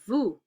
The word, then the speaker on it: vous: Nous, we don't pronounce the S, and vous, we don't pronounce the S.